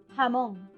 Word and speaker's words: jamón: J is like G, that is strong sound, but once again you can pronounce it like aspirate H, like jamón, jamón, that is ham.